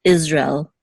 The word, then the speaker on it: Israel: you also find that in the word Israel in Hebrew it's isra it's almost as if